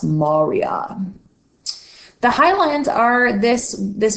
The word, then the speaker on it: maria: and Marya it looks like Maria but it's pronounced Moria the Highlands are this this whitish looking regions